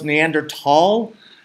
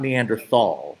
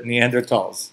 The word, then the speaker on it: Neanderthal: where our neanderthal friend so it's neanderthal I think so not me and earth all I I think that's the pronunciation that people like to use these days okay and so now